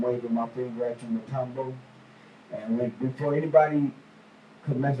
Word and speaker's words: Mutombo: He said Mutombo. He said it, Mutombo. I won't say it again. That's how his name is pronounced.